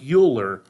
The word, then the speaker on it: Euler: exponential base called e euler's e looks like euler but it's pronounced euler so what we're gonna do here